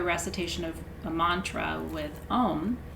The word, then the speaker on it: om: shanti shanti shanti um om is the sound of the name of god it's actually made up of three sounds that are collapsed together just to to represent om and shanti is peace